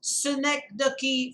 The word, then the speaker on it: synecdoche: want you to be very particular about this snake the key first of all that's the pronunciation the spelling is s y and e